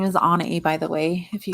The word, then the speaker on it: Anai: If you guys see my name on my description below, and you're like, how do you say that? That's how you say it. Some people call me Anai. That's not correct, but you can't say that.